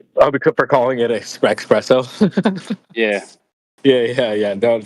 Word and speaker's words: espresso: the original word because a lot of people don't even know how to say it properly cuz they call it espresso right but it's it's actually espresso if you didn't know now you know I was just about